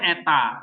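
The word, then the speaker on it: ήτα: Epsilon itu E pendek, ini E, ya. Agak titik, makanya dia di sini ada titik dua karena E-nya E panjang, E.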